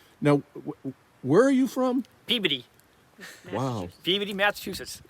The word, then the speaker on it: Peabody: Peabody. Wow. Wow. And how do you spell it again? Let's try it one more time. PEABODY. Wow, that's not But Peabody. we don't pronounce the O.